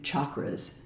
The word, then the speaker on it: chakra: But chakra with a hard ch like chair is closer to the Sanskrit pronunciation.